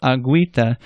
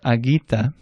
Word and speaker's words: agüita: Now what if you see a U with 2 little dots over it? Well, that means that a U that would have otherwise been silent is now pronounced. So you say guero or agüita. If it didn't have those 2 dots, you would have said guero or aguita.